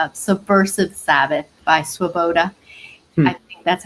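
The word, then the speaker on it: Swoboda: book that we recommend called subversive sabbath by swaboda that's how you pronounce his last name and um it was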